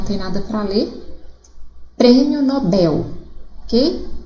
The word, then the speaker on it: Nobel: Então, as sílabas a serem circuladas seria o in, de ruim, o bel, de nobel, circuito seria o cui e o condor, o dor, ok?